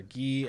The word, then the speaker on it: Ghee: You can find him on Twitter at Tyler Gee NFL, and Gee is spelled Ghee.